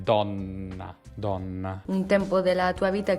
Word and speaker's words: donna: insegnante vi posso dire che ha una buona pronuncia il come come dona donna poi con una doppia n do min la donna un tempo della tua vita che ricorda sempre